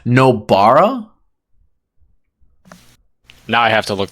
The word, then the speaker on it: Nobara: Noburo. One more time. Say it slow. Noburo. Wrong. What is it? I think it's now you've got me saying it wrong. Nobara.